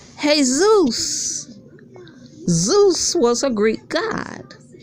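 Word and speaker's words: Jesús: Latina people name their sons hey Zeus that's how it's pronounced hey Zeus Zeus was a Greek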